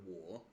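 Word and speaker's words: 我: You only pronounce it that way whenever it's in isolation, like the word wo. It goes down and then up, wo.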